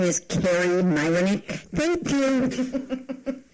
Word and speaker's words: Kari Myroniuk: go on record to say my name is Carrie Myck thank you it's just fine how are you